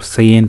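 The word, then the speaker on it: cayenne: peppers long bullhorn peppers KN peppers or cyan peppers as they're pronounced and hot Indian peppers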